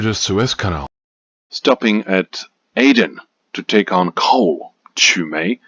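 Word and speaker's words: Aden: Suz Canal Suz Canal Suez Canal Suz Canal Aiden Aiden Aiden Aiden Aiden Aiden all right now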